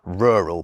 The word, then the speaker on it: rural: In Britain, we just say rural, but some American accents try to make it into a one syllable word, so it comes out as sort of rural.